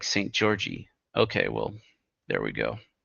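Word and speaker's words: Szent-Györgyi: George and is pronounced just like St. Georgie.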